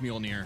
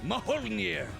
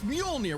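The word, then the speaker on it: Mjölnir: By this point, you know it's pronounced Muolnir. Molè. Close. It's Muolnir. We've talked about it at least a dozen times by now. I know. It's just funny how much mispronouncing it pisses you off. Malinire.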